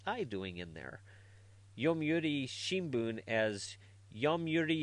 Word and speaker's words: Shimbun: Yomiuri Shimbun as Yomiuri Shimban. And even saying Babe Rusu, because they can't pronounce the TH, as Babe Rusa.